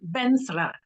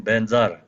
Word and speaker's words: Vajra: yes, it's two different pronunciations. One is called Tibetan pronunciation, Benzar. But actually Sanskrit pronunciation is Varjara.